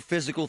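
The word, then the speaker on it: Fyzical: You want a new physical therapy experience? You want a treatment plan centered on you? Monroeville Physical, spelled F Y Z I C A L, is spelled different.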